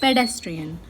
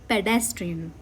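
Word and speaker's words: pedestrian: जो second saleable है dash इस पे हम ज्यादा स्ट्रेस देंगे। पेडेस्ट्रियन। Understood paid not padded it's पेडेस्ट्रियन।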